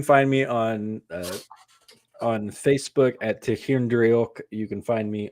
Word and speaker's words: Tighearn: It's spelled in a way that will confuse the hell out of you. Tehir is the way you pronounce it, but you can find